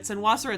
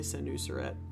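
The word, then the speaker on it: Senusret: Senaseret is not the best way to pronounce it. It's usually senuseret.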